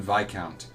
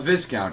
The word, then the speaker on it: viscount: of an arabon and vicount to him quite regrettably in sir's humble opinion yes I did pronounce that right by the way it is vicount not Viscount it's vicount because it's French the